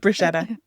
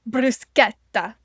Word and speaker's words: bruschetta: Like you can't call it bruschetta or whatever else it is that I call it bruschetta or bruschetta like some people do. So it's bruseta bruseta brus that kind of thing.